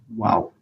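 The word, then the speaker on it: واو: this first letter here it's just pronounced just the way I've pronounced it wow wow and it functions just like the W in English language okay and the next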